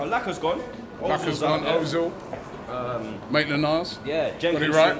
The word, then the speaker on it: Maitland-Niles: It took you 6 months to actually say Ainsley Maitland-Niles, not Maitland-Miles.